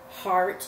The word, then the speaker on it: heart: So like the word heart, like our heartbeat, is spelled H-E-A-R-T, but we only hear the ah.